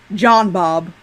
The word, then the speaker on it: Jean-Bob: jean-bob but you know they don't pronounce it like that in the movie don't they no i say you call him john bob you heard a hard j in there yeah i'm